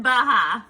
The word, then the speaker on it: Baja: I don't think the J is actually supposed to be pronounced. I think you're right. I didn't know that. Baja, but It's whatever.